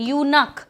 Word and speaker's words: eunuch: जैसे एक वर्ड है EUNUCH, इसका प्रोनाउंसिएशन य से होता है, यू से होता है, यूनक. तो अगर इसका प्रोनाउंसिएशन ही यूनक है तो वो य साउंड आया, ना कि ई साउंड आया.